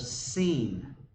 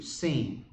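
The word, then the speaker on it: סין: israel came unto the wilderness of seen is how you say that in hebrew seen we'll see that it's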